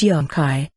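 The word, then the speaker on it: llankay: thus pakamama south earth lanca i pronounced yonkai which means hard work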